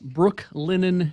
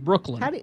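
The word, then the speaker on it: Brooklinen: to tell you about Brooke linen sheets I got to be careful not to mash that together because it sounds like I'm saying Brooklyn won't you spell it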